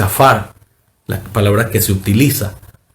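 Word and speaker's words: עפר: En hebreo, la palabra polvo se pronuncia y se dice afar, la palabra que se utiliza.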